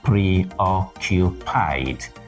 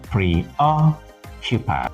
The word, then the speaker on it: preoccupied: preoccupied please take note the word is stressed on the second syllable not preoccupied but preoccupied so that's it he